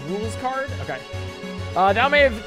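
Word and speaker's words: Rouxls Kaard: hello i am ruxell's card russell's card thousand greatest adversary uh that may have it's pronounced rules card okay uh that may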